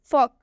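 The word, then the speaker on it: folk: मतलब होता है बातचीत एक और एग्जांपल देखिए फॉक इसे भी हम फॉल्क नहीं पढ़ेंगे क्योंकि इसमें भी एल साइलेंट है क्योंकि एल के बाद से के आया हुआ है या फिर के से पहले एल आया हुआ है दोनों एक ही बात है फॉक इसे हम फॉक पढ़ेंगे फॉक का मतलब होता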